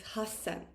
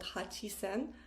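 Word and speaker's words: 八千: And then here, again, a little bit different because it's hasen, not hachisen, hasen.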